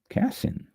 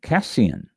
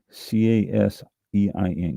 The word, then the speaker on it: casein: Casein. Oh, well, I wasn't pronouncing it right. Casein. C-A-S-E-I-N.